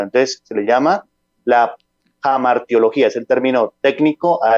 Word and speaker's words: hamartiología: la parte etimológica y siempre uno pronuncia la H como la hacemos en español pero el pastor nos indicaba que es con la J mar teología e el pastor se